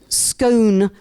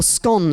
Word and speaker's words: scone: you are the more you rhyme with gone so scone and scone